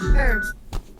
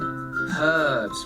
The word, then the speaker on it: herbs: Herbs. Okay. Herbs. Yeah. They say like, herbs or something. Herbs. We pronounce the H. Yeah. Herbs. We don't.